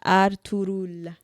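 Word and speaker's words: Ertuğrul: That's how it's said. It's pronounced Ertugrul. Ertugrul.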